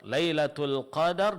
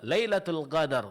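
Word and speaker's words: لَيْلَةُ الْقَدْر: Contohnya dan ini masuk ke bagian kesalahan berikutnya yaitu khalutiha bil ghain mencampur suar bunyi suara huruf qf dengan huruf ghain sehingga mirip dengan huruf ghain. Contoh al-qadar. Lailatul qadar dibaca lailatul qadar.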